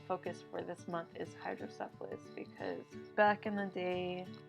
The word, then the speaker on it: hydrocephalus: It's hydrocephalus, not syphilis, okay?